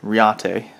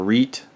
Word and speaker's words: Reate: made by this company called riate or reet or riyat however you want to pronounce it i've heard it pronounced many different ways and i've also seen